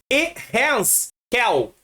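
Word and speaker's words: יחזקאל: Seu nome hebraico é Ehezkel. É um pouco difícil a pronúncia, mas fica tranquilo.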